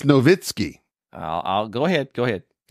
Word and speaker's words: Nowitzki: Dirk Nowitzki. It's Nowitzki.